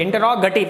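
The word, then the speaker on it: interrogative: दूसरा type इंटरोगेटिव, इंटरोगेटिव, इंटरोगेटिव, गेटिव नहीं है बच्चों, ये गेटिव नहीं है, ये गटिव है, इंटरोगेटिव, इसका सही प्रोनाउंसिएशन, सही उच्चारण इसका इंटरोगेटिव है।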